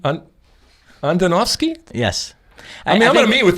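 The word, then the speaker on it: Andonovski: you really yes of course vodka last name Antonov ski Andonov ski huh Antonov ski yes I know me with them so much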